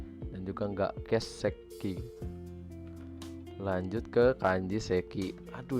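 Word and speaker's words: 欠席: Jadi keseki, bukan kesiki, kesekinya nggak pendek dan juga nggak keseki.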